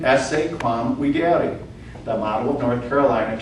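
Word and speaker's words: videri: You hear the V being pronounced as a W? Esse quam videare.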